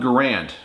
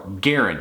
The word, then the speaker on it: Garand: Next up, the M1 Garand, or Garand, because the actual inventor of the rifle was John Garand. It's how he pronounced his name, so it really should be pronounced the Garand rifle.